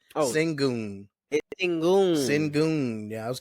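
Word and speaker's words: Şengün: alarin singon I finally heard the right pron pronunciation of his name it's singon singon singon yeah I was call him singing I I didn't know I had never heard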